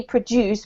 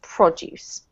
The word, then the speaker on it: produce: That's another one of those verb-noun problematic words, Martin. So yeah, usually produce because it's a verb, but in this case, noun is produce.